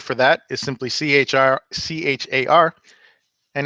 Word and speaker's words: char: that is simply CHR ch AR and it's typically pronounced char even though it's short for character character literals are enclosed